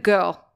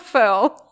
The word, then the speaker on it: Firl: We are talking with Monika, I was about to say Monika Girl, but Monika Firl. Because that's how Monika taught me how to say it. She said, it's like a girl, but with an F.